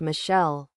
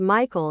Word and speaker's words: Michael: and again this girl was adamant it was pronounced Michelle. Mom, bemused, said something along the lines of, it's literally a name from the Bible. It's pronounced Michael and has been for thousands of years.